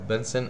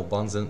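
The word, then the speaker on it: Bunsen: بنشوف الفيديو اللي عليه الدور ده، بيعرفنا على الأدوات اللي هتعامل معاها، من أول لهب بنسن أو بانزن، بتتنطق بالعربي بينطقوها كده أو كده.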